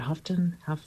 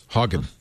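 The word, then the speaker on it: Haugen: So the one thing he mentioned was Francis, how do you say, is it Houghton? Hogan. Hogan. Francis Hogan.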